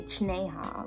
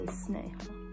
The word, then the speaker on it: Sneha: For example, my name is Sneha, but if you spell it out it's like Chi-ne-ha. Okay, but you won't say Chi-ne-ha, like you say Sneha, you know.